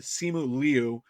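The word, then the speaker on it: Simu Liu: love the fact that simu lou or simul liu is the proper pronunciation he was very specific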